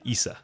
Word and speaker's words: Issa: from a listener named Isa or Issa Issa or waol WL Issa okay the pronunciation guide said Issa oh okay thank you